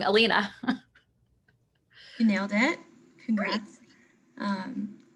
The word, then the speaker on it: Alina: i apologize in advance if i say your name wrong elena you nailed it congrats um i got an